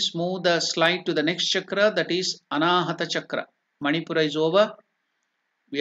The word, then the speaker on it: anahata: the chakra is anahat chakra can you please pronounce it anahat chakra at the heart region is called anahata chakra anahata this the four chakra heart chakra then where